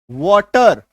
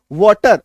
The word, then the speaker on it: water: अगर हम लोग कैट के जैसा इसको पढ़ने लगे तो इसको वेटर पढ़ देंगे, पढ़ेंगे ना, क्या पढ़ेंगे? वेटर, WATER वेटर। CAT कैट, तो WAT वैट, वेटर। लेकिन इसको वाटर क्यों बोलते हैं?